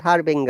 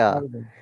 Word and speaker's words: harbinger: What is the rule? Harbinger. Yes, follow the rule. Harbinger. It is not Harbinger. Harbinger.